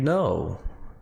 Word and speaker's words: know: no k o w no a letra k ela não é pronunciada como se diz saber no Agora é com você como se diz você deveria saber you should know you vamos expandir mais